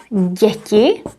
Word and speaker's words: děti: And the nominative plural is děti, as well as the accusative, děti. Děti. It's a little bit difficult to pronounce. Děti. They both have this soft sound.